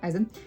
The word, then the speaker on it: Eisen: Stark into it who is the dwarf I eizen yes that's how we say his name Eisen um but is in the dwarf Warriors Apprentice